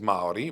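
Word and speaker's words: Māori: Te means the, Reo means language, and Maori means Maori with a long A.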